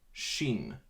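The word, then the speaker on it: שין: to practice that leche the next letter is Xin sure Xin it pronounced just like Sh Xin this is also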